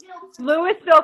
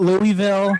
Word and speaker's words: Louisville: correct pronunciation is Louisville. Frankfurt. Louisville. I know how to say You Louisville. gotta pronounce it like you've had a stroke.